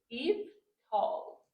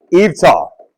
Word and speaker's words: eVTOL: This title is it's hard to pronounce, but I think he helped me out here. Eie. Eve tall. Did I nailed it? Perfect. Thank you. Eve tall.